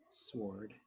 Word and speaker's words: sword: Sword. Who pronounces the W?